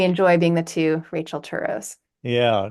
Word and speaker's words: Turow: No, we both pronounce it Turow, actually.